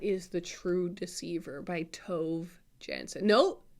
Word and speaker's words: Tove Jansson: And that is The True Deceiver by Tove Jansson. No, Tove Jansson is how it's pronounced.